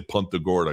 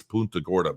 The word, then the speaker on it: Punta Gorda: want to pronounce it my wife and I think it sounds silly when people say punt the Gorda because I don't think that's really I think I think it's my wife says it's a Latin name and it's not pronounced Punta it's Punta Gorda but anyway um tomato